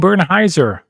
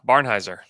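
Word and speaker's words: Barnhizer: Um, but alas, we won't see it, but we will get to see Topic and Bernheiser or what's the pronunciation? Yeah, Barnheiser.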